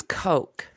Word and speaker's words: Koch: bridge on clutch Koch I think it's Coke clutch it's Koch um there's a trucking company and it's it's called Coke and that's how it's spelled yes it's Koch Ed